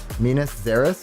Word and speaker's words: Minas Gerais: I think it's Minas Gerais. Minas Gerais, is that how you say it?